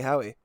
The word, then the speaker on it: Howey: What did you say? You said Howie. Yeah, you got it.